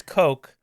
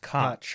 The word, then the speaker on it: Koch: I said, no, it's Coke, but it's not the Koch brothers. Yeah, right. And because it's not the Koch brothers, that led to that. They're from a different country, and there it's pronounced Koch.